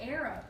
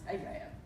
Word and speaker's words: Arab: I want to say Arab.